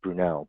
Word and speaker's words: Brunel: Or if you're looking for a specific topic, in my case, we'll be using, I think it's pronounced Brunel, but it looks like Brunel, but Brunel, to visualize some of the data about these New York State restaurant records.